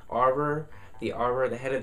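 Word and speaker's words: Auror: know if you guys had trouble pronouncing that but a u r o r that word aror the aror the head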